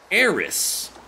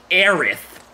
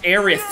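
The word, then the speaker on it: Aerith: of Final Fantasy 7 it was translated as AIS and and immediately immediately American weebs in the 9s were they like it's actually aith they they thought we couldn't pronounce aith right so they said it they made it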